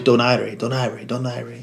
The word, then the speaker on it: Donaire: And they were, you know, it was always Donaire. And then even on the Spanish channels, they'll say it like that because that's how it's pronounced.